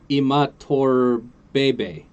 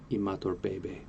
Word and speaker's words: Imatorbhebhe: Josh Imatorbhebhe. Oh, it's Bebe. That's amazing. Imatorbhebhe.